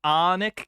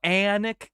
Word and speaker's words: Alnwick: Alnwick Castle sits on a powerful ley line that runs from the south of England. It's pronounced Alnwick Castle, Alnwick Castle.